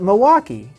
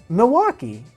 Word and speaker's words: Milwaukee: know the city but I've always all my life called it Milwaukee Milwaukee and never with any L so it's like it's I heard it as Milwaukee Milwaukee I'm like Milwaukee what and I mean I know that the L is there I'm gonna name this